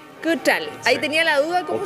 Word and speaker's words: Quitral: Vamos a hablar de Rayen Cutral. Cutral. Ahí tenía la duda. ¿Cómo Quitral. Quitral se escribe, pero me imaginaba que no se decía tan...